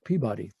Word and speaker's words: Peabody: While Peabody is the same Peabody you see up here, down in Baltimore, they pronounce it Peabody.